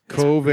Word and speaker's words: Coven: Coven. It's pronounced Coven. And that one Coven sounds like oven, man.